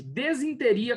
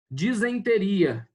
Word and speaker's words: disenteria: na festa do pinhão a forma desinteria embora muito pronunciada pelos falantes da língua portuguesa não está correta e já que o prefixo des significa mau funcionamento dificuldade e inteiro intestino o tanto a grafia ea pronúncia correta são disenteria disenteria olha isso disenteria observa-se